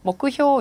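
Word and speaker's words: 目標: 자, 목표는 음독해서 먹구효 이렇게 읽어주시는 거죠.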